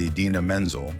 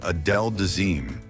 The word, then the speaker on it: Idina Menzel: for her musical performance, John Travolta pronounced her name in a completely different and unusual way. The name John pronounced was Adele Dazeem, a completely made-up version of the actress and singer's real name.